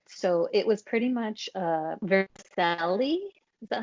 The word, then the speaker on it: vermicelli: So it was pretty much vermicelli.